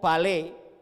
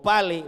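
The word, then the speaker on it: πάλη: ahí desde griego es el término Palé o pale porque lleva la el acento en la a o en la Alfa Es un término que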